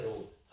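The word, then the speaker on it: rogue: ए भी आते हैं इसे बोलते हैं रोग हां लेकिन बोलने में यू वाली का उच्चारण नहीं होता इसलिए कन्फ्यूजन हो जाति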